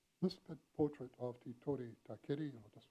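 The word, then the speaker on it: Takiri: This portrait of Te Tore Takeri, and I'll just spell it for you, Te Tore, T-I-T-O-R-E, and Takeri,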